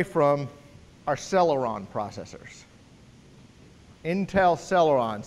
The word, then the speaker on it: Celeron: Intel Celeron, spelled with a C, C-E-R-L-E-R-O-N, Celeron.